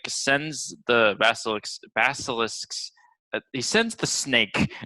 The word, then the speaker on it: basilisk: uh he gets the giant snake the the obelisk is that that's how it's pronounced right no it's uh what was it basilisk basically the apple that's from guardians of the